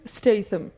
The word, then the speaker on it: Statham: how to pronounce his name and it is pronounced Jason Statham just in case you're wondering so and then